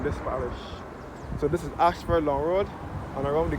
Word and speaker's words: Ayshford: So, Holy Innocence Church is situated on Ashford Long Road. As I said before, this Ashford is spelled A Y S H F F O R D.